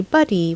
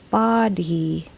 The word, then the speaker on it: body: locals would usually say buddy when using this word because Filipinos often interchange the O and U sounds in English if we use our English vowel sounds correctly though this should be pronounced body body Not Buddy it